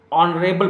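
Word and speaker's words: honorable: ही इज ऑनरेबल person, तो क्या होगा, ही इज एन ऑनरेबल person, right, क्योंकि यहां का प्रोनाउंसिएशन जो है वो वावेल आ रहा है, राइट।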